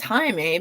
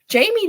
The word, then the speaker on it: Jaime: in me um and they want to pronounce it as Jaime because that's how it's spelled and it's funny because